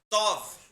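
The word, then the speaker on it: טוב: Mas eles mandam ele lá para a terra lá de Tob, né? Terra de Tob. Ou seja, quinto dos infernos. Mandaram ele para Tob. Tov, aquela palavra no português é Tob, mas no hebraico é Tov.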